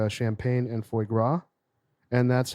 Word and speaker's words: foie gras: I'm having, Rhymes with Viagra.